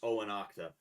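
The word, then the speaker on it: Eóganachta: Um, that's spelled like EOH, like ANACHTA or something like that. Um, and it's pronounced Oanachta. Um, they were a royal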